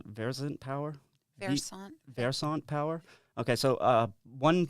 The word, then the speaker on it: Versant: So, How do you pronounce that? It's Versant Power? Versant.